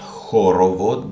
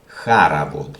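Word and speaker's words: хоровод: Which you pronounce not horovod but haravod.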